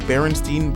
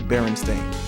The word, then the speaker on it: Berenstain: was how everybody was saying Berenstein bears when the books clearly said Berenstain but I've always remembered it as Berenstain but I've always remembered people saying Berenstein and I've always remembered wondering why they're saying it wrong and I think it's